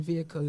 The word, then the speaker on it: vehicle: The fact that you all pronounce the H in vehicle is wild to me.